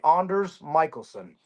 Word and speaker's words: Anders Michelson: My name is, I guess, like properly pronounced. My grandma always called me Anders Michelson.